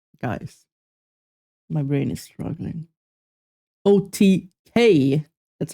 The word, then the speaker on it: OTK: OTK.